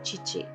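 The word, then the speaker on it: 父: Para hablar de mi papá se dice chichi.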